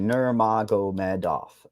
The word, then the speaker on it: Nurmagomedov: her uh Nur Nur it's a lot easier when you just break it phonetically nuro Med off yeah yeah exactly I did the end there that's what IED to do at the end everybody tries to rush through it so ji Herbert right